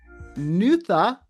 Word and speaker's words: Nuada: During this encounter, the Danann High King Nuada Argetlam, pronounced Nutha Orgethlum, lost his arm.